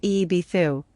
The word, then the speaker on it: Ibiza: This is seen in other locations set up by the Etruscans, who are the Pelasgians, such as Ibiza, pronounced Eebithu, in the Balearic Islands.